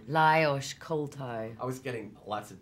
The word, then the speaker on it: Lajos Koltai: And how do you pronounce the director's name? Lajos Koltai.